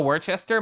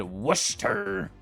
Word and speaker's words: Worcester: Worcester. Everything before the stir is pronounced like wood minus the D, but you always want the D.